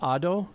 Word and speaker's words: Ado: It's pronounced Ado.